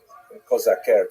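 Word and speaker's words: козаки: Cossacks, or Kozaker, to use the Ukrainian pronunciation, were basically Ukrainian peasants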